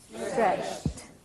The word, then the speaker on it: stretched: Stretched. What's the difference there? Tiptoed. Stretched. This is a D and this is a T. A very interesting aspect of English pronunciation in the past tense.